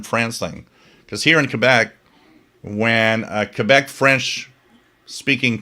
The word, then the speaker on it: Quebec: Because here in Quebec, when a Quebec French speaking person talks to you in English, you won't hear with or without you.